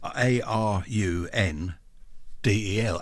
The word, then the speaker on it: Arundel: Well, it's on the river Arun. So I've always called it Arundel. It is Arundel, Arundel.